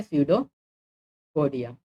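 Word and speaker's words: pseudopodia: अगर मैं स्यूडोपोडिया की बात करूँ, इसमें पी साइलेंट होता है। ठीक है, पी साइलेंट होता है, ऐसे शुरू होता है स्यूडोपोडिया।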